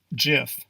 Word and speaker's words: GIF: hear over and over again are you ready gif proper pronunciation is gif if you've ever attempted to pronounce this word